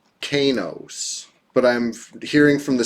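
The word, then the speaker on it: Qeynos: It looks like it should be Kanos, right? I've heard Quanos, even though there's no U, but I mean, it's got a Q, so somebody's going to try to pronounce it like that, sure.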